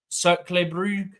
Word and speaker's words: Cercle Brugge: Also, talking of Belgium, in the Conference League, I think it's pronounced Cercle Brugge, they got through in the top 8 of the Conference League as well.